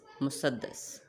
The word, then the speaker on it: مسدس: نظم کی صورت میں، غزل، حمد، نعت، منقبت، مثنوی یا مخمس اور مسدس۔ مخمس یعنی اس تلفظ کو غور سے سنیں، مخمس، مسدس۔ دوسرے نمبر پر آتی